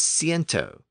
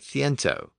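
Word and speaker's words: ciento: i n t o which is pronounced as Cento with the S sound except in Castilian Spanish where the sound shifted to more of a th sound which is another cilent so the pronunciation in Castilian Spanish is more like thento old French also experienced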